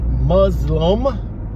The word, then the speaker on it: Muslim: But just real quick, that's all I wanted to say, that the word Muzlum is how you say Muzlum if you are an American Muzlum.